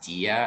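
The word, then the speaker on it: Dyja: uh i think it's thomas dia i think that's how you say it's d-y-j-a um it just came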